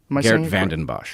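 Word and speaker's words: Geert Vanden Bossche: Geert Vandenbosch.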